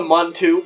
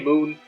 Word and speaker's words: Mun: a derivative of the moon I guess you know the Mun in in Kerbal space program is actually pronounced moon but you know it's everyone calls the month I called the Mun - but you know